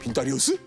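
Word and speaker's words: Винторез: 빈타리우스? 저거 부스스 빈토레즈 아닌가요? 맞습니다. 러시아 오리지널 발음을 한번 흉내내봤고요.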